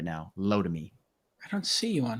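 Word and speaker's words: Lotame: these um estimates great it's l-o-t-a-m-e it's pronounced low to me low to me i don't even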